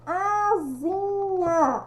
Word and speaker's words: asinha: Asa vai virar asinha. A escrita com S, mas a pronúncia com Z.